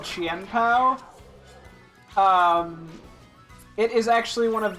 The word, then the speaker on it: Chien-Pao: This is this Pokemon that I've been using is called Qianpao.